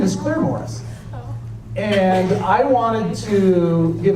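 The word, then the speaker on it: Claremorris: for Claire Morris now they don't pronounce it Claire Morris they pronounce it Claire Morris but I located a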